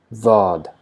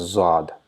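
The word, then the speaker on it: ضاد: Because the tongue is touching the side of the teeth, it produces very slight buzzing Z sound.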